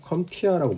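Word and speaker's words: CompTIA: C자는 대문자로 쓰고요. P자가 묵음이고 컴티아라고 보통 우리가 읽거든요.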